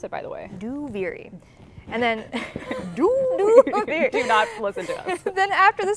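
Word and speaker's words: Duviri: saying out loud is a that's how you pronounce it by the way do viri then after the sound panel uh we go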